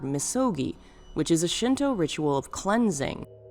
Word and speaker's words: 禊: The way it's read sounds like the word misogi, which is a Shinto ritual of cleansing, one of the most important elements of the tradition.